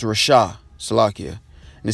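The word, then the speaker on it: רשע: Salakia if it's mispronounced. Or Rashai. Or Rashah. Yeah, it's Rashah.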